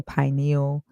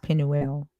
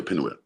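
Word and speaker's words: Peniel: make videos saying that this is like the pineal Pine no panu means face l means god literally means face of got okay yeah uh and so it's p it's pronounced Pinel yeah Pinel okay um and so I see and the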